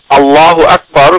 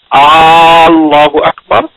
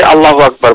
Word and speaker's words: আল্লাহু আকবার: কিন্তু যদি কেউ করে, যেমন কেউ যদি আল্লাহু আকবার কথাটু বলার আগে আ যদি বড় করেন আল্লাহু আকবার, তাহলে তার নামাজ নষ্ট হয়ে যাবে।